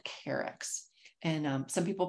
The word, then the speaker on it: Carex: There are a number of different genera that are in that family, but the largest genus there is called Carex. And some people pronounce it K-Rex, depends, but anything you want to call it is just fine.